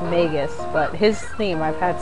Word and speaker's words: Magus: theme I don't know I call him Magus I think his name is actually megus but n it yeah I think his name he's actually pronounced megus but his theme I've